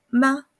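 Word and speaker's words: mā: que es la sílaba ma. El primer tono es planito. La voz queda ahí. Sí, yo lo siento como una pequeña entonación porque la voz no fluctúa.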